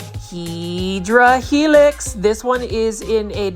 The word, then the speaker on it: Hedera helix: Here is a stunning Hydra Helix, or what you call the Hedera Helix. That is the correct way to say it. But if you want to say it the Grow Folds Plant Foldy way, you say Hydra Helix.